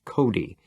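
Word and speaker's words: Cote: On the other hand, there was Mrs. Cody, pronounced Cody.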